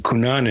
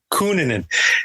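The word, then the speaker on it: Cunanan: I heard the name kunan I knew he was Filipino I knew but when you looked at him he didn't look it and his name was constantly mispronounced kunin and then when they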